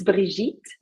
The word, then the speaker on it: Brigitte: French, it's Brigitte.